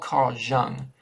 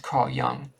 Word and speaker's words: Carl Jung: It's spelled Carl Jung, but it's pronounced Carl Jung.